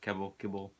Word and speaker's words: Kebbell: Is that how you pronounce his name? Kibble.